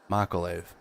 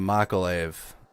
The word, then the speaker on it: Mykolaiv: Mykolaiv. Coming out of Mykolaiv, one of the port cities.